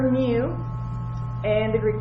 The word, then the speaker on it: mu: So what this means is this mu, which is, it's kind of like an M and a U combined, and that's what it sounds like, mu. It's MU is how we would spell it out.